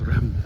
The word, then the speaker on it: Reims: It's not Reims, it's Reims.